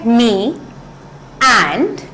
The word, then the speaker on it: meander: तो प्रोनाउंसिएशन है मी एंड एंड में जो आर है उसको हम बहुत ज्यादा लाउड नहीं बोलते हैं, ठीक है?